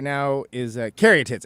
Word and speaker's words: caryatids: right now is uh Carey tits am I say am I saying it correctly by the way you